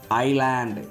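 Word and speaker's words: island: அப்போ இதை எப்படி படிக்கணும், ஐலாண்ட். எப்படி படிக்கணும், ஐலாண்ட், ஐல், ஐஸ், ஐல், ஐல்னு சொல்லணும், ஐசல்னு சொல்லக்கூடாது, எஸ் சைலண்ட், ஐல், ஐலட் அப்படி தான் பண்ணணும்.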